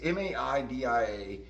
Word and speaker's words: Maida: It's hard to pronounce his name. It's Maida.